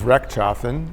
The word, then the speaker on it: Rechtschaffen: to work with him my last name is re chafen uh very hard to say unless you know how to say it and it means do right or make right shafen means make or do re is right it's a wonderful name